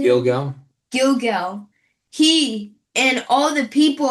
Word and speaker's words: Gilgal: Gilgal.